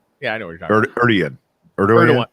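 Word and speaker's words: Erdoğan: Erdogan. It's Erdogan. Erdogan. It's Erdogan. Thank you. Spelled Erdogan, but it's Erdogan because fascist.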